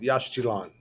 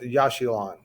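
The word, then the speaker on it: Yaxchilan: All right, Yashchilan. I've heard it pronounced Yashchilan, and I've heard it pronounced Yashilan.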